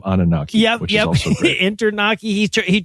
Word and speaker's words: Anunnaki: I think he says Internaki too instead of Anunnaki, which is also great.